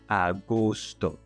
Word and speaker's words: agosto: The word agosto. It ends with an O, so you're going to stress the middle syllable. Gus, gusto.